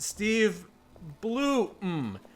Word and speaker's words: Steve Blum: Steve Bloom's name is pronounced Steve Bloom with the M sounding like the M in come.